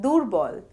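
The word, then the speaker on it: দুর্বল: word medially as in durbal which means weak and in final position we can get Doro means pride in both cases the sound of ref is pronounced before the consonant on which it appears the shape of this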